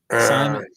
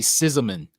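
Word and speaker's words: Szymon: This is the oh god, is it pronounced Simon? Simon, yeah. I think that's what. I always want to say Sizeman.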